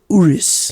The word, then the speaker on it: Urus: G-Wagons in Lamborghini Urus. yeah, Urus. If you can't pronounce it, Yes, Urus.